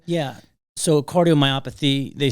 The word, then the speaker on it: cardiomyopathy: say it again cardiomyopathy cardiominopathy myopathy so I said isn't it cardiomyopathy I'm putting an n in there myopathy very good sorry cardiomyopathy and so now can